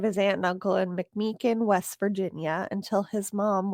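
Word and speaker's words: McMechen: He was placed in the care of his aunt and uncle in McMakin, West Virginia until his mom was pearled in 1942.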